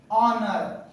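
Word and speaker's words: honour: पहले हा है तो इसे हम क्या करेंगे ऑनर ऑनर नहीं अब देखिएगा ज्यादातर स्पेलिंग में ब्लू के तुरंत बाद ध्यान रखना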